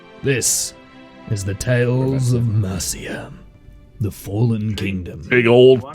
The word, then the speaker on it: Mercia: Mercia. It's a soft C, thank you, instead of a hard C.